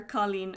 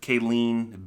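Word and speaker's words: cailín: buckle far colleen urban you didn't pronounce any of those correctly yes i did be careful if anyone gets offended by me you're in the wrong place that's bean well that's yeah you're an english speaker so i'll give you that boo fear kayleen bean i think i might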